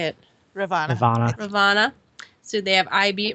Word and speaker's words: Ravana: Ravana.